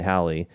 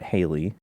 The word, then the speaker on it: Halley: see great great great great great uncle edmund halley um he he hung out with folks like newton and he was a mathematician and he he was the first one to calculate the return of halley's comet at the time it wasn't called halley's